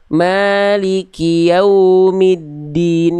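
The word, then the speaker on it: مالك يوم الدين: Di bagian wau jelaskan lagi monyongnya. Lalu jangan nyau jangan masuk hidung. Maliki yaumiddin. Yau jangan yau. Ah jangan masuk hidung. Diulang lagi Bunda. Maliki yaumiddin.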